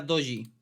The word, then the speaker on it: doji: Esto es una vela doji. Se escribe de esta forma.